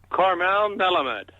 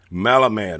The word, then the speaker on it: Melamed: Karmel Melamed. Melamed.